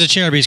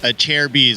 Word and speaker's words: Acerbis: chair of ease now it is a chair B's correct yes you know a lot of people mispronounce it but it is a chair B's a good way to